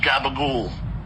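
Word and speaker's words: gabagool: It's pronounced gabagul. G A B A G O O L.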